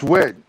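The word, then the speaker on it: Wedd: Weed, I don't know. It's Wed.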